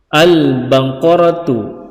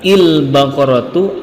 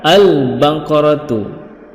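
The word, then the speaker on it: البقرة: Contoh gini, al-baqaratu, tidak boleh dibaca il-baqaratu atau ul-baqaratu, yang benar adalah al-baqaratu.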